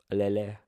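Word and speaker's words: allele: very very important one alio Ali alele you you got to know how to pronounce that hey because the first time you saw it you you probably confused huh uh question six a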